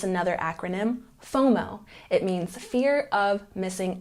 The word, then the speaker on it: FOMO: and checking our pronunciation we put the stress here on the first syllable fomo fomo number nine chill this